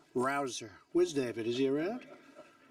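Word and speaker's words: Rouzer: Hey, you know how you pronounce it? Rabble Rouser? You go David Rouser.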